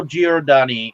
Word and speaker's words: Giordani: Well, Carlo Giordani is the main detective, or Giordani. Is that how you say it? Giordani, yes. Carlo Giordani is the name of the character of the young newspaper guy.